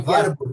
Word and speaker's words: Warburg: Eh, ya yo no me acuerdo ya los nombres, pero en Alemania era Max Barburg, se pronuncia Barburg, que es la pronunciación original.